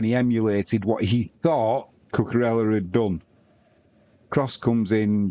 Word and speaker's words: Cucurella: I know I say his name wrong, don't I, Cucurella, but is it Cucurella? It's Cucurella.